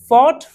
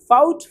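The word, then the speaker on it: fought: टॉट, taut, taut नहीं, catch, cot, कॉट, काउट, काउट नहीं, बाय, बॉट, बॉट, बाउट, बाउट नहीं, फाइट, फॉट, फॉट, फाउट, फाउट नहीं। ये भी ध्यान देने वाली बात है कि इसमें UGH सब में साइलेंट है, उसको नहीं पढ़ना है, आपको सही पढ़ना है।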